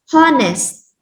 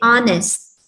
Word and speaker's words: honest: again honest okay so in this word the letter h is silent so you are not going to read it as honest right so you are